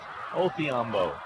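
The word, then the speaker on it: Odhiambo: Spells his name with a D, but pronounced with a Othiambo.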